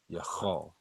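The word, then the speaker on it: יחל: If you look at the screen, it's Ya Cha, CHAA, and then La, and there's a connector between the Cha and the La. This is how you say hope. Yachal.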